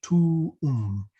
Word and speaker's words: tuum: So tuum. It's not tomb.